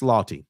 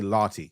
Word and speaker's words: Lawtey: that I love um Chris Lottie I think that's how you say his name Lottie l-a-w-t-e-y Chris Lawtey